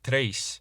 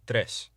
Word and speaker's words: tres: What this means is, rather than saying dos, say dos, and rather than tres, say tres.